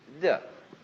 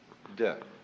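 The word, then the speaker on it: 德: Virtue in Chinese is de. We Romanize it as T-E-H, de.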